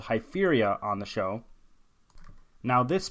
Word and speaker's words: Hypheria: Hypheria is spelled Hypheria, so how you'd expect.